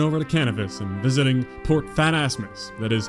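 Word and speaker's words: Port Phasmatys: back and crossing over to cannabis and visiting port fat asmus that is how you say that being confused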